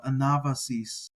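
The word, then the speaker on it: ἀνάβασις: using the you know I pronounce the vaa as or the beta if you want to say it that way with a um with a B sound so anava so that's why I'm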